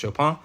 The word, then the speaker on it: Chopin: Katechopin, Kate Chopin, pronounced Chopin.